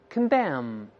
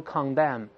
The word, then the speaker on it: condemn: 我们大声读一下，这两个词是通用的 condemn，不要读 condemn， con 在轻读的时候读成 con，重读是 con，所以大声在里面 condemn。